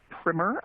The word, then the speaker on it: primer: Primer. I always mispronounce that word, but it is primer unless you're painting.